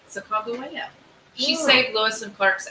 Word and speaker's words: Sacagawea: Sacagawea. That is the correct way to pronounce her name.